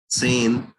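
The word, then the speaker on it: zehn: 10 tenth का है सेन, एक बार आपको लिख के, सेम। सेन आधा त और स लिखना है स्टार्टिंग में।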